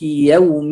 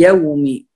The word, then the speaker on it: يوم: نعم، أيضا في يوم، يوم الدين، هنا كلمة يوم الواو هنا مرقق، الواو في كلمة يوم الدين مرقق، فلا نقول مالك يوم، يوم الدين، لا، هنا الواو مرقق، وأيضا الميم، الميم مكسورة